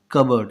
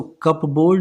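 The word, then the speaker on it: cupboard: कबर्ड। ये पी जो है ना ये साइलेंट होता है इसमें। सो कप बोर्ड नहीं पढ़ते इसे, इसे क्या पढ़ेंगे? कबर्ड। CUBUARD के जैसा इसका साउंड आएगा।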